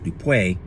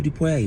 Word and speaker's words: Dupé: time we gathered, because folks think that my name is French, Dupé, or Mojupé, or there's several pronunciations, or I shouldn't say there's several pronunciations, but there's several ways people pronounce it. But it's not. It's from an African language, right? The language is called Yoruba, and I chose that